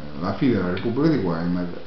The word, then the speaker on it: Weimar: la Repubblica di Weimar, la pronuncia giusta è Weimar, i motivi della crisi economica che portarono a questa condizione e infine il vero e proprio, la fine della Repubblica di Weimar e l'avvento del nazismo,